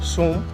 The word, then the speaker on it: Soum: और मेरा तो आप जानते ही हैं, मेरे चैनल का नाम है एच सोम, एच के बाद डॉट लगेगा, सोम स्पेलिंग SOUM।